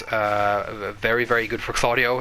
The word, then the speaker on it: Claudio: I think is uh very very good for claudo it's minus 9 claudo has a lot of